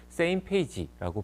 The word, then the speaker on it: SMPAG: 바로 첫 번째는 SMPAG, Same Page라고 발음을 하는데요.